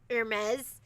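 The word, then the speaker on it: Hermès: Hermes.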